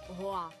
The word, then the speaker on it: Гоа: Гоа а в Гоа куди у слові Гоа ставити наголос теж не зовсім Ясно гуа- это не остров потрапити на Гоа правильно вимовляти все-таки Гоа але все це умовності